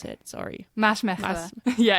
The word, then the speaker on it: Maasmechelen: How do you pronounce it? Sorry. Maasmechelen. Yeah, it's hard. Maasmechelen.